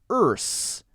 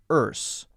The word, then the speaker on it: earth: forward into the s erse erse if it sounds like this this that's wrong a lot of people say that that's incorrect it's a mistake it should be earth earth now British Pinet pronunciation